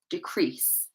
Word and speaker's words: decrease: So instead of decrease, it will be decrease. Decrease. Okay, the stress is on the second part.